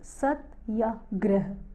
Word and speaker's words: Satyagraha: Satyagraha, pronounced Satyagraha, is a compound of 2 Sanskrit nouns, Satya meaning truth and Agraha meaning firm grasping.